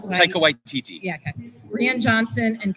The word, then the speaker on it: Taika Waititi: movies in the franchise, including projects by I butchered this name. Taika Waititi. Taika Waititi.